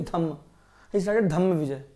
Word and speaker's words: Dhamma: In Buddhism, in the Pali language, R is silent. So Dharma is Dhamma.